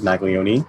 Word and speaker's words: Maglione: my last name wrong it is maglioni but it's like leone well i've been pronouncing